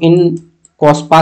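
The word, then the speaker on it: INCOSPAR: तो इन कोस्पा के नाम से जाना जाता था। ठीक है? स्पेलिंग सब याद है? आई एन सी ओ एस पी ए आर are silent रहता है।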